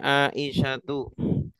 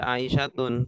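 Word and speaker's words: عائشة: tidak menerima tanwin tanwin contohnya aisyatu Ini tidak tidak boleh Dibaca aisyatun tapi aisyatun nama perempuan Iya karena nama perempuan iya tanda rafanya pakai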